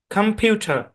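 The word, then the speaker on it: computer: খুবই সরি খুবই দুঃখিত এখানে আপনি যেটাকে ও এর শর্ট সাউন্ড দিয়ে পড়তেছেন অরজিনালি এখানে ও এর শর্ট সাউন্ড হবে না কম হবে না এখানেও সো সাউন্ড এপ্লাই হবে ঠিক আছে তাহলে এই শব্দের উচ্চারণ হবে খাম কম্পিউটার কম্পিউটার খাম খাম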